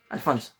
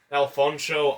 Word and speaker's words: Alphonse: Alphonse Cruz, pronouncing the sound is very important. He gets offended if you pronounce it as a false. Alphonse. Yep. Never call him false, Alphonso, Alfons, Alphonso or else or else you're going to wake up without kneecaps.